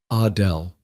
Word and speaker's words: Adele: She pronounced it the French way, Adele.